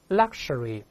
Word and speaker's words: luxury: 跟老师大声读一遍，注意 x，它往往有四个发音，kus、kush、gz、gz 都行。在这儿呢，它发 kush。